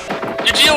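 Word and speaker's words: Eugeal: Who will probably be spelled totally different in the game. Eudeel. Pronounce Eugeel in the show.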